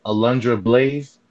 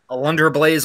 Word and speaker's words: Alundra Blayze: of WCW nitro uh-oh I don't think you pronounce their name correctly would think with a Lunger of blaze alundra blayze or Medusa we would have accepted either one